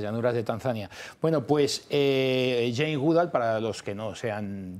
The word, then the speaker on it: Jane Goodall: otra parte, experta en chimpancés, Jane Goodall, ¿se pronuncia? Sí, Jane Goodall.